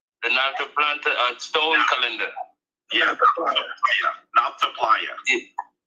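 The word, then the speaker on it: Nabta Playa: heard you talk about the, how do you pronounce it again? The Nalta stone calendar. Yeah, Nalta Playa.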